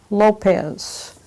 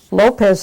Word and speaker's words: Lopez: My name is Lopez. Lopez is spelled L-O-P-E-Z.